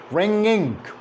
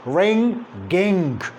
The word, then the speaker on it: ringing: attach g to itself we pronounce these words like ring gink there is girl ringing but in reality there is no go it is like this ringing not ring ging there is no girl this one is wrong